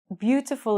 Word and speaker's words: beautiful: we've got five vowels but in English beautiful is not five syllables it's only three because if you have two or three vowels together they're only going to make one vowel sound so in English the word beautiful is only three syllables beautiful okay if